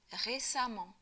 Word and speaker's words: récemment: Attention à la prononciation, on dit amant. Pour un adjectif en ANT, on construit l'adverbe avec amant. Donc en fait, amant avec E ou amant avec A se prononcent de la même façon.